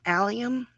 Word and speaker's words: allium: I'm getting this pronunciation. Um cuz I wasn't too sure. But, there's the allium with the other flowers. It's allium. Allium, okay.